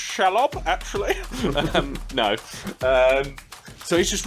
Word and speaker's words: Shelob: Should be pronounced Shelob, actually.